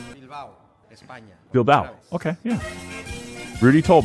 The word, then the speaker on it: Bilbao: I want to say Bilbo, but it's not The Hobbit, so. Bilbao, España.